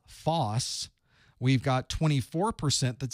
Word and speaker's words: FOSS: it pii AUP gdpr Foss or Phi fos says it's really false isn't it that's the way we usually pronounce that I was trying to